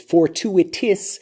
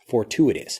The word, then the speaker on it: fortuitous: peafowl next fortuitous fortuitous listen carefully to how this blends for two it is for two it is so it's fortuitous you can pronounce it